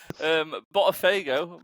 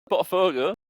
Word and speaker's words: Botafogo: Botafogo. That's how you pronounce it. Botafogo.